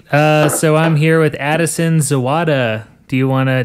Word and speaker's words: Zawada: my conversation with Addison's wada sweet so I'm here with Addison's owada do you want to did I say that right yes that's correct it's just like it's spelled zou wada nice do you want